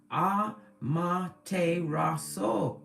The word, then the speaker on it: Amaterasu: It even tells you how to pronounce it. It's Amaterasu.